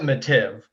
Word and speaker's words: Mattive: So it's we pronounce it Mattive, which messes everybody up, right?